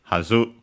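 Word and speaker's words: はず: Let's check its accent. Unaccented, hazu.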